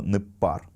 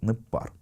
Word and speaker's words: ныббар: В первом же слое вы видите форму «непар», и вы видите различие между написанием и произношением. Пишется оно «ныббар», а читается «непар».